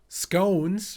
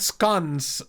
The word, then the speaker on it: scones: March Hare informs me that in educated circles, scones rhymes with bones like scones. Really? Not. Wait, Yeah. it went away again. Wait. Silly guy talks too fast. Not scones like we've been saying.